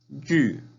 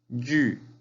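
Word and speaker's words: 玉: Y se pronuncia yu, yu. Muy bien, yu.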